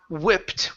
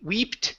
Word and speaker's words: whipped: block was empty good this word here is pronounced whipped with a short I instead of we EE weeped it's a way with